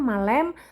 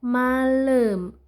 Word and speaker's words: malam: Lanya di sini bacanya e bukan e bukan pasar malem tapi pasar malam.